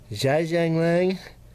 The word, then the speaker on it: Zhejiang: If you don't know how to pronounce words that begin with X, it's Zhe, not X. Zhejiang, Shanghai street scene.